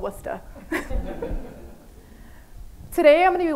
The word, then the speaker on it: Worcester: want to let you all know it's actually pronounced Worcester I am from the Boston Massachusetts area and